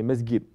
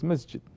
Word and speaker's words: Masjid: mess get you know they say mesquite but you have to pronounce it Masjid the way that the Prophet is saying not to praise me skip although in your local tongue you can pronounce it like that so Quran has remained